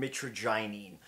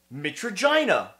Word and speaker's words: mitragynine: while others strictly contain mitragynine. Mitragynine, mitragynine, mitragyna, which rhymes with you know what. Take your pick. I won't judge you. Everybody says it in different ways around the world, and people need to realize that.